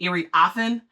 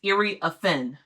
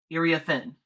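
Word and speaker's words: Iriafen: name wrong this entire time uh everyone was pronouncing it irie offen um but it's irie aen irie aen um so that's the official way to pronounce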